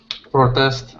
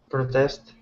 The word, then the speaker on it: protest: Protest. Good. Yes. How would the noun be pronounced? Because the noun actually is the same spelling. Protest. Ah, good. Protest is the noun. To protest is the verb.